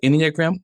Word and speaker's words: Enneagram: The Enneagram, am I saying it right?